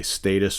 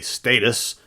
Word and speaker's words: status: and status quo live whether you say status or status depending on where you are okay obviously here in America we generally say status but the Brits say status so that's how I'm gonna pronounce it today status quo two favorites